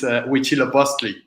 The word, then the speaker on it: Huitzilopochtli: And Daniel's is Huitzilopochtli. What? It's not very easy to pronounce, but yeah, I will leave that to you.